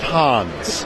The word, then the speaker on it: Hans: was an inside joke his name is pronounced Hans as in Hans Christian Anderson okay so he leaves